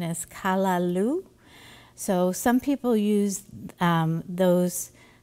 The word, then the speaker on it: callaloo: this Jamaican rice recipes that it it's the pronunciation is callaloo so some people use those spinach Alternatives if